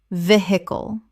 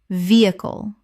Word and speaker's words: vehicle: muscle muscle Word 197 vehicle Common mispronunciation veh-hicle Correct pronunciation vehicle Three syllables with with H almost completely silent. The stress is on the first syllable.